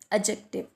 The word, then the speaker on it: adjective: इसको गलत प्रोनाउंस किया जाता है एज एडजेक्टिव. So this is नॉट एडजेक्टिव, this is एडजेक्टिव. डी जो है वो साइलेंट है.